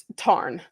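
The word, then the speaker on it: Tairn: And then I don't know how to pronounce Taryn. Tarn. Tarn.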